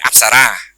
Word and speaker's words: អប្សរា: absar like that in we don't call upsara we use the term very similar term it upsore the our pronunciation is upsa and in the in